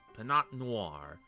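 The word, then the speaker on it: Pinot Noir: think it's this one oh the tea is silent yeah yeah I forgot the tea was silent yeah clearly first try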